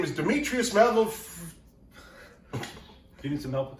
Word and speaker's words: Demetrios: Demetrios, yes. Demetrios? Demetrios.